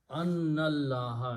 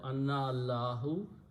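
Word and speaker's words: أَنَّ اللَّهَ: Okay, you pronounce Annallaha instead of Anna Allahu, Annallaha.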